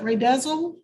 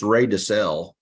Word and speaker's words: DeSalle: Ray, how do you pronounce it? Ray Dezel? Ray Dezel? It's Ray DeSalle. Ray Dezel, okay. Ray DeSalle, but all my friends call me Ray.